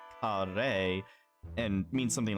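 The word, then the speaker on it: 華麗: So she mistook the characters, which are pronounced kare, and means something like splendid or gorgeous, or the Japanese word kare, which means curry.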